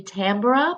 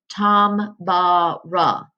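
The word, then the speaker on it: Tambora: bruh it almost looks like it would be Tamara but I looked it up and it tells me down here in the parenthesis that it's pronounced Tom bara so you'll be reading a rap about mount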